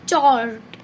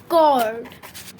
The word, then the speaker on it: chord: अगर आपने ये जो है आपने पहली बार पढ़ा है तो आप इसको प्रोनाउंस करेंगे चॉर्ड, पर इसका प्रोनाउंसिंग चॉर्ड नहीं है, it's pronouncing is कॉर्ड। कॉर्ड इसका प्रोनाउंसिंग, चाहे CH लगे पर उसमें क का साउंड आ रहा है, कॉर्ड, ओके।